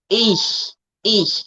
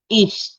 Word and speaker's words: ich: Okay, ich. It's like you're using the middle of your tongue. You're raising the middle of your tongue to touch your alveolar ridge. Okay, ich.